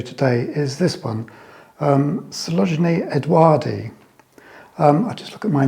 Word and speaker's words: odoardi: is this one, Coelogyne odoardi. I'll just look at my notes. It was, oh yes, it was first described and discovered by an Italian naturalist called Edoardo Beccari.